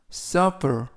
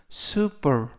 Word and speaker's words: supper: 이때 유의하실 점은 발음을 super 이라고 읽지 않습니다. super 이라는 단어는 P가 하나가 빠져서 super, 그 단어는 super 이라고 읽고 이번 단어 supper은 supper 이라고 발음합니다.